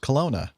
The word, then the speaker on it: Kelowna: be helpful she says i would have said it's pronounced kelowna and oh i'm right